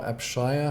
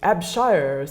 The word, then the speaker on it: Abshire: to hire i'm sorry my scottish husband is always incensed at the way that Americans put the emphasis on the wrong syllable in Scottish names Chicago is full of everything is called mantras or makan stantly hits like it should be Montrose so I suppose her name would be AB shires and they like that